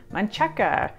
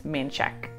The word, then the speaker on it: Manchaca: This looks like it's a really fun word to say, Mancheca. It looks awesome, but in Austin, no, it's Manchek.